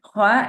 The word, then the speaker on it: خ: But anyways, Kha is pronounced heavily and has a scratching kind of noise. The root of the tongue is upwards, meaning Kha is a heavy letter.